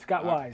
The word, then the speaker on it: Scott Wise: Now, Scott Wise Award, did I pronounce that correctly? You did, Scott Wise.